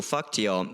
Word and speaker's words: fakt: Faktio, exactly. Like, what did you just call me? Yeah. Like they don't always go to all the trouble of pronouncing the T in that word fakt, which means really, real, like for real.